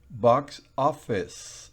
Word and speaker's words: box office: Box office. No es office. No, señor. Ni es box office. No, box office. Una I corta que se simboliza con esa E invertida.